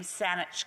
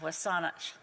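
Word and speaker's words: W̱SÁNEĆ: that my riding name, Saanich Gulf Islands, being a corrupted English pronunciation of Wasanich, the Wasanich Nation of the Coast Salish peoples.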